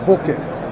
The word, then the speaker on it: bokeh: The right answer in Japanese is bokeh, bokeh, bokeh.